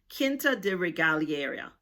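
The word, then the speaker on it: Quinta da Regaleira: Kinta de Regalier, that's what I think is the correct pronunciation.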